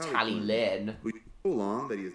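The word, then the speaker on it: Talyllyn: person in Wales exactly for some reason unlucky type pronounces tally then as tally Clinton but I don't understand why I know for a fact it's pronounced tally Lynn too long that he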